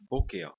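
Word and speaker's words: בֹּקֶר: Por exemplo, a palavra boquel. Olha só tem um segol e a outra vogal é um rolem. Mas continuamos com o acento na primeira sílaba.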